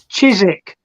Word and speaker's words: Chiswick: her once over it um chizik they have that's how you pronounce it Chiswick it's not Chiswick it's like no